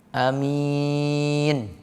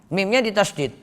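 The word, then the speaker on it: آمين: Ada juga metode qasr, mengikuti pola fa'il, yang artinya amin. Jadi ada dua cara, bisa amin, atau bisa amin. Yang tidak diperbolehkan, kata Al-Jauhari, adalah menambahkan shadda pada mim. Am-min. Amin, itu salah, itu tidak benar.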